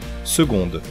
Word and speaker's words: seconde: en espagnol segundo en français on a décidé de l'écrire comme en anglais mais de prononcer le G comme l'espagnol seconde on dit le